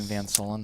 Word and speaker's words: Soelen: Pronounce our name Van Soelen that way. SOEL. Yep. Soulmates.